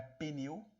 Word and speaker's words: pneu: Lembrando que não é pneu. Não queira matar um professor de português com isso. O P é mudo.